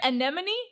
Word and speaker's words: anemone: an enemies fish did I say that right anemone anemone anemone anemone I'm saying it right we